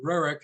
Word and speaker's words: Roerich: uh you know and I think that roric in his way or Ric as they pronounce it in Russia um he wanted to